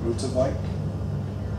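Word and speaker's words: Uterwijk: It's also the first album for a while, I think since Resurrection Carver, that Patrick, I'm probably going to say his name wrong, Lutterbike.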